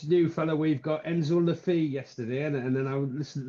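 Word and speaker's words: Le Fée: fellow we've got Enzo Lefi yesterday and then I listened to the commentary yesterday and they're pronouncing it lef so I'm I'm getting it wrong as well we all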